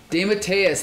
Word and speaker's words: DeMatteis: I believe it's pronounced JM DeMatteis. DeMatteis, there you go.